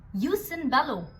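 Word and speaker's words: jus in bello: मेन components हैं और ये इटालियन टर्मिनोलॉजीज हैं तो इनकी प्रोनाउंसिएशन इंग्लिश से थोड़ी सी अलग है. First is यूस eight बेलम मतलब कि जस्ट conditions for war. Second यूस इन बेलो जस्ट conduct during war.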